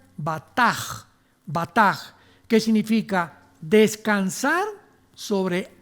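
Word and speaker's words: בטח: la palabra hebrea batak con b de burro y ch al final se pronuncia batas batas que significa descansar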